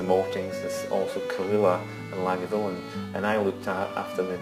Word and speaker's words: Lagavulin: How you pronounce Lagavulin is Lagavulin. Lagavulin. You drag out the vulin, so it's Lagavulin.